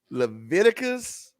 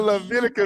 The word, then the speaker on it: Leviticus: I was over here How about that Leviticus like Leviticus. Leviticus? I think it's Ti, not Te.